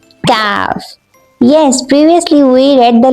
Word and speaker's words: Kaaf: So this is the letter Kaaf. We pronounce it like Kaaf, Kaaf, Ka, Ka, Kaaf, Kaaf, not Qaf, Kaaf. There is a big difference between these two letters. Qaf, Kaaf, Qaf, Kaaf, Qaf, Kaaf.